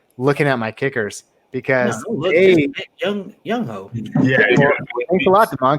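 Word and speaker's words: Younghoe: It's clearly Young Ho. What did I say? You said Young Who? It's Young Ho. It's Ho.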